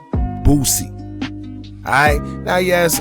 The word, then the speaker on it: Boosie: Alright, now yes, I know you must pronounce the S when saying his name, but I guess with what y'all call an accent, that S in Boosie just don't sit right with me.